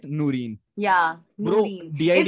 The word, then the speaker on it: Noorin: Noreen. Yeah, Bro, Noreen. DID It's में आपका basically misspell क्या पता है? हाँ, it's pronounced as Noreen, हाँ, but हाँ.